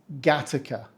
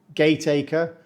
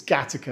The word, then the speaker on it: Gateacre: Pronounced correctly, it's Gateacre, like the movie with Jude Law a few years ago. We don't say Gateacre or Gateacre. If you're trying to say it the way it's spelled, just stop. It's Gateacre, and no, we don't know why either.